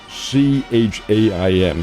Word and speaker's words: Chaim: went to Yale, and Chaim, incidentally, is spelled C-H-A-I-M. He is Jewish, and he's an Orthodox Jew, and as a result, he has the first name of Chaim is how it's pronounced.